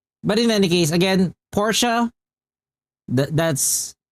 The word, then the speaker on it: Porsche: But yeah, but in any case, again, Porsche, that's how you can pronounce it.